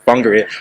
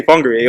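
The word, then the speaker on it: Whangārei: Whangarei, it took me a long time to pronounce this, the Whangarei, but now I can say Whangarei. Or am I saying it right? Okay, Whangarei.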